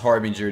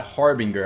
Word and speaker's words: Harbinger: It is pronounced Harbinger, not Harbinger.